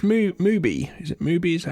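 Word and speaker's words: MUBI: But is it cuz it's Mo movie is it Movie? Is that how you produce pronounce it?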